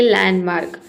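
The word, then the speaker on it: landmark: इसे हम पढ़ेंगे लैंडमार्क।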